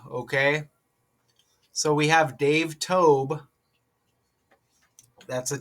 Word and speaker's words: Dave Toub: So, oh, it's Dave Tob. It's pronounced Dave Tob. Okay. So, we have Dave Tob.